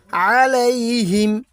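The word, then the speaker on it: عليهم: এখানে বলতে হবেলা আলাইহিম আইনের উচ্চারণ হলকের মাঝতে শক্তভাবে দিতে হয় কেউ যদি বলে আলাইহিম তাহলে কিন্তু হবে না এখানে বলতে হবে আলাইহিম আলাইহিম তরন তরন এখানে কিন্তু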